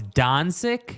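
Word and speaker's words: Dončić: this way back it's dancing okay now it's Don sick that's the proper pronounce Gonzaga exactly come on yeah it could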